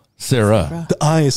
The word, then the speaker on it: Sarai: do Sarah e s it's spelled like Sarai right but it's Sarah Sarah the ey is silent